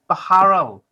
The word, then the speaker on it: Beharrell: got a real treat uh we've got baharel i have pronounced it right haven't i correct i've